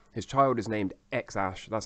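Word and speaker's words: X Æ A-12: the Tesla Model X his child is named xash that's how it's pronounced and it's written like this x Ash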